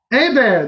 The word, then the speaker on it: Hebert: Hebert, that's right. Hebert. Not Hebert.